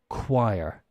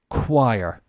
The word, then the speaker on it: choir: okay this is pronounced choir think of a wire a piece of um